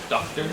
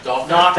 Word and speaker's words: Docker: Doctor? Spell it, please. DOKR? Like the Docker? Docker like a dock.